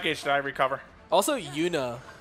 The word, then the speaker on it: Yuna: Also, Yuna rhymes with tuna.